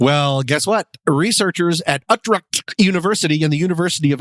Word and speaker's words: Utrecht: Yeah, I did say Utrecht because it's the first time I'm trying to pronounce it. It's Utrecht.